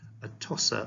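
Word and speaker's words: Atossa: um on Xerxes and a tossa or toosha I think is how it's pronounced to avoid um in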